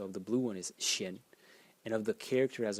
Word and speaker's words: 心: character is this one over here which is pronounced Shin in the first Stone and it's it's a